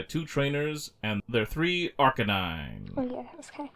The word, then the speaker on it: Arcanine: Arcanine on his own why do you say it like that it's Arcanine cuz it's a Canan Kane however that dog was pronounced canine canine it's a canine finally Ash is writing